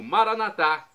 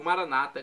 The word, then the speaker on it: Maranata: do aramaico Eu Clamo maranat como dizemos nós católicos ou Maranata como dizem nossos irmãos separados os evangélicos ou protestantes não importa pronúncia o significado é o